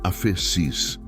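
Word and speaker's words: ἄφεσις: Para aprofundarmos neste conceito, precisamos conhecer a palavra grega para perdão ou remissão, que é afeses. Se pronuncia afecis.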